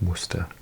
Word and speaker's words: Worcester: Now, I have no idea how you pronounce this here, but in Britain, we pronounce this Worcester. Maybe it's Borchester.